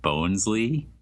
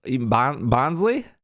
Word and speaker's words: Bonsly: I was criticized for my pronunciation of bones Lee bones bonsly bonsly is what somebody told me bouncing I think